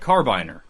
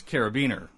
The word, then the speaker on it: carabiner: It looks like carbiner, but it's carabiner.